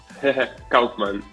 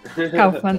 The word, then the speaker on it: Kaufmann: Kaufmann. Kaufmann. I don't want to pronounce it incorrectly.